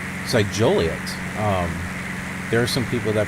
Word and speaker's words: Joliet: in Kankakee probably get irritated with people can't pronounce your town right so Juliet there are some people that pronounce it jolly us it's not jolly it looks Juliet and even